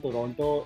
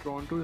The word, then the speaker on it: Toronto: First of all, it's not Toronto, it's not Toronto, it's Toronto. And Toronto. I do not. You just have to gargle inside your mouth and you'll be able to pronounce it.